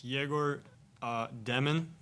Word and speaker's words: Egor Dëmin: I just want to first ask, how would you like us to pronounce, you know, your full name? Uh it's Jor Deon.